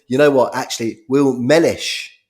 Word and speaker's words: Mellish: Will Mellish is the way you say his name.